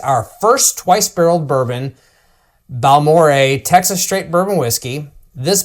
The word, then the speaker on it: Balmorhea: us a a taster of Balore pronounced Bal Moore a cast strength is 130.2 proof.